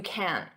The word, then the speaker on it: can't: forever now notice can't in spoken English I'm not going to pronounce that hard can't with the T you can't can't can't Dodge notice